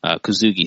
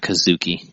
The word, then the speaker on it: Kosugi: But, Pray for Death, which was, I mentioned that, Kosugi, sorry, not Kazuki.